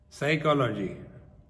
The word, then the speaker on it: psychology: Dash K is silent psychology Dash p is silent Talk t a l